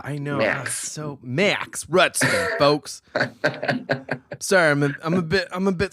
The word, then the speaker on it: Rudsten: How do we spell it? Max, M-A-X, Rudsten? Rudsten, yeah.